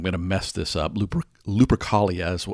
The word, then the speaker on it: Lupercalia: pagan holiday i'm going to mess this up lupercalia is how i i pronounce it but there was an actual holiday